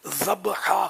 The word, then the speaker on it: ذبیحہ: تو ہمارے ہاں یہ غلط العوام ہے کہ اس کو ذبح بولتے ہیں, حقیقت میں لفظ جو تلفظ ہے اس کا ذبحہ ہے. اہل علم میں بعض ذبح بول دیتے ہیں, معنی کی طرف توجہ نہیں ہوتی, تاہم یہ کہ اصل لفظ ذبحہ.